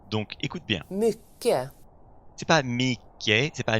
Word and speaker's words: mycket: Le mot du jour, c'est mycket. Et je vais te faire écouter la prononciation native. Mycket.